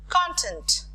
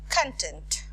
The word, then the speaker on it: content: Like for example, content, content, conduct, conduct. Based on the stress, the meaning gets changed.